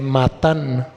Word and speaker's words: matan: raíz matá deriva de matan con acento en la a que quiere decir dadiva